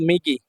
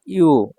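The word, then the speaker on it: 右: দেখুন 55 নাম্বার যে কাঞ্জিটা 55 এটা হল মিগি মিগি মানে হচ্ছে ডানে এটার চাইনিজ উচ্চারণ হচ্ছে ইউ এটা চাইনিজ উচ্চারণ হচ্ছে ইউ এটা যখন সিঙ্গেল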